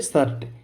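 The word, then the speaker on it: shirt: तो इसको हम सिर नहीं बोलेंगे। इसको हम बोलेंगे शर्ट।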